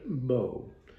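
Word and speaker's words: Beau: the love of her life a boxer named Bo which is spelled be auau and that becomes significant in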